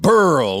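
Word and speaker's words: BRL: B-R-L, pronounced Burl.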